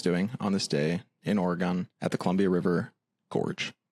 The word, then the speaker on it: Oregon: Um, it's pronounced Oregon if you don't want to get haters.